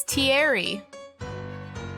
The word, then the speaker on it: Thierry: Oh, we were so wrong. It's Thierry.